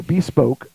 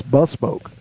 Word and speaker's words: bespoke: o k e and I was going to say bepoke and I looked it up online and then I had it play how it's pronounced and it's bspoke oh okay so but